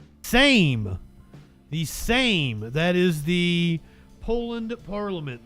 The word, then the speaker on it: Sejm: Can I get a pronunciation? Same. The Sejm.